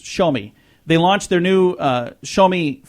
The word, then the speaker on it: Xiaomi: It's called the Xiaomi, and it's spelled Xiaomi, but it's pronounced Xiaomi.